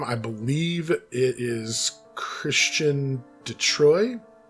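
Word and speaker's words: Chrétien de Troyes: i believe it is christian detroit is how you would pronounce that christianity troy something like that you gotta you always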